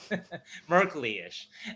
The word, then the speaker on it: Merkley-ish: 4 syllables, yeah. Merkley-ish.